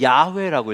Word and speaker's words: 야훼: 자음을 읽을 땐 야훼라고 읽어요. 야훼.